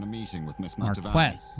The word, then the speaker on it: Marquess: Marquess is how you say it.